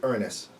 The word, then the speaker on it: Uranus: No, it's actually because the correct pronunciation would be Uranus.